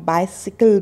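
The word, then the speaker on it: bicycle: जब हम इसकी बात करते हैं पैडल करने वाली, तो उसको हम बाइसिकल बोलेंगे। हिंदी में हम साइकिल बोल देते हैं, उसको अपना एक्सेंट ले आते हैं, परंतु यहाँ पे आपको बाइसिकल बोलना है।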